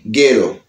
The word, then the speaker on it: ghetto: Et nous gagnons ghetto. Ghetto. Ghetto. Ghetto. H là pas prononcé.